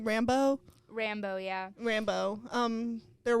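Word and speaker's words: Rambeau: Monica how do you say her last name Rambo Rambo yeah Rambo um they're working together to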